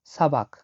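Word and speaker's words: сабак: হচ্ছে class class বা পাঠ যেটা আমরা বলি সাবাক সাবাক নেওয়া বলি আমরা সাবাক নেওয়া মানে হল ক্লাস বা পাঠ নেওয়া সাবাক লিখে নিচ্ছি দেখুন এস এ বি এ কে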